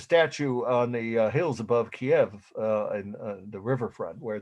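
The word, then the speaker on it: Kyiv: russia or ukraine actually kiev kiev is how everyone i've heard pronounce it and i have friends from there i've been together twice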